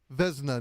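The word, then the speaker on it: Vezina: All right, Andrew, how do you pronounce the award again? It's what? Vzna, named for George Vzna.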